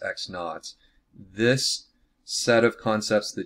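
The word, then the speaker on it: x₀: would say it would be just x minus x naught that's pronounced x naught this set of concepts the difference in our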